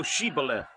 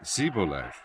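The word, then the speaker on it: Shibboleth: said they unto him say now Ebola and he said Cibola for he could not frame to pronounce it right then they took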